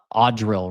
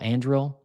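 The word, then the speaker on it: Anduril: That's the home of the uh Audril, right? Is that how you say it? Audril. Andril. That drone defense facility out there.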